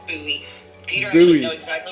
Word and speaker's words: Bowie: There's a town in Maryland called Bowie, except it's pronounced Bowie.